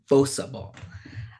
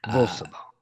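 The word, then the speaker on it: bossaball: And so for that reason, my first pronunciation will be bossa ball. Bossa ball. Bossa ball. Or bossa ball. I have heard it pronounced both ways, often by the same person talking about the sport. They'll just oscillate back and forth.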